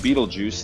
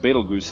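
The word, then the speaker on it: Betelgeuse: in the constellation Orion pronounced beetle juu in some accents and beel goose in others this red super giant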